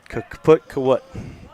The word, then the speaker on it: kaput: Kaput. One syllable. Kaput. Kaput. Foot. Put. It went put on us.